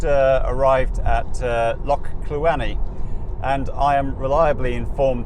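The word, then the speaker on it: Cluanie: arrived at uh loch kluweni and i am reliably informed that kluani according to my scottish girlfriend is exactly how you pronounce it so hopefully i will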